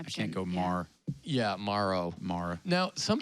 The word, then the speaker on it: Morrow: How do you say tomorrow? Oh. That's how I tell people. However you say tomorrow is how I would say my last name, but Morrow.